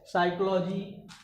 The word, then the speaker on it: psychology: तो इस तरह से आप ये याद रखिए कि यदि किसी शब्द में यन और यस से पहले पी आया है तो वहाँ पर पी साइलेंट होता है। ठीक है, साइकोलॉजी, शाम, ठीक है, ये सब चीजें याद।